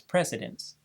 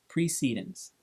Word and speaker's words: precedence: by examining the pronunciation there's a strong tendency to read this word as precedence but Robert's Rules of Order actually gives the proper pronunciation indicating that it is pronounced precedence so if anyone tries